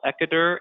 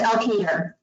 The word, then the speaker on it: Elkader: It's Dyersville, Eckader, and West Union. Is that correct? Yes, Elkader. How do you say it? Elkader.